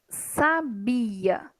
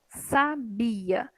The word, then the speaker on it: sabia: Agora, sabia. Sabia. Sabia. Eu tenho 3 sílabas. E a minha penúltima continua sendo a tônica.